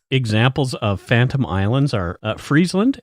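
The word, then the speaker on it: Frisland: just south of Iceland I'm just going to say it sounds cold but it's spelled f r i s l a n d but still I agree it sounds pretty cold freezeland and its location would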